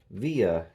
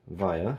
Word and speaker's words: VIA: It has a VIA chipset, or VIA, however you want to pronounce that. Heard it both ways.